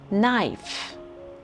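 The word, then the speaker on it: knife: नाइफ, नाइफ में बज़ाहिर आपको उसके स्पेलिंग्स में के का लेटर लिखा हुआ नज़र आ रहा है, लेकिन नाइफ में लेटर के जो है वो साइलेंट है, सो इसको हम बोलेंगे नाइफ।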